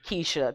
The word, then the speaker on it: Keisha: the k e y s h i a kisha there's a lot this is hood scrabble yeah